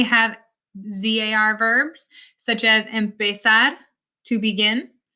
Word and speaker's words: empezar: I'm not saying empezar, it's empezar. It's not cruzar, it's cruzar, almorzar, organizar. It actually sounds a lot more like an S in English than a Z.